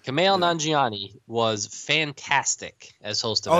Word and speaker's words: Nanjiani: And then Kumail, I can never pronounce his last name. Nanjiani. Nanjiani. Kumail Nanjiani was fantastic as host of SNL.